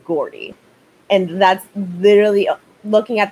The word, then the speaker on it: Gordy: I don't know if the name is supposed to be pronounced Jordy, but like Lizzie McGuire has taught me that it is Gordy.